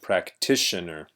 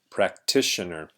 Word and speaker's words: practitioner: you might notice that t-i-o-n in english is pronounced shun so that's a common pattern that we see so this word is pronounced practitioner stress on this part practitioner and this is a